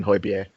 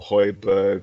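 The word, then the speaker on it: Højbjerg: you know we're signing hoybier or hoiberg or however it wants to however it's pronounced i was saw somewhere today that is pronounced holy beer so i'm going to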